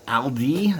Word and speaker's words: Aldi: doing that for many years now uh with aldi and that's the correct way to pronunciate it trader joe's you have riva you